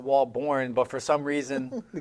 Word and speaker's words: Walbourne: Yeah, so it's Walbourne, but it's spelled Bourne.